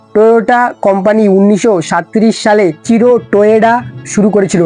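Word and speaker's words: Toyoda: টয়োটা company 1937 সালে চিরো টোয়েডা শুরু করেছিল। হ্যাঁ, টয়োটা না, টয়োডা।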